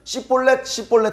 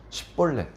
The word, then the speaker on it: 십볼렛: 그러면요 십볼렛이라고 해보세요. 십볼렛. 쌍시옷 발음이 안 되는 거예요. 십볼렛.